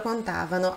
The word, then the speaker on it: contavano: Noi contavamo, loro contavano. Há esse deslocamento da sílaba tônica.